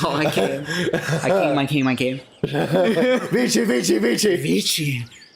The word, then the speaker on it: vici: Vici, Vici, Vici. Vici. But technically, in the old Latin, it would have been pronounced wiki. Wiki, wiki, wiki.